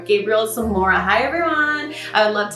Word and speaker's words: Gabriel Zamora: I said Zamora. Gabriel Zamora.